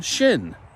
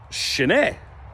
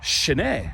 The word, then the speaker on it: sin: But the pronunciation I hear is very often shin, which is part of your leg. So that's it. Shin-e. Very simple. Shin-e.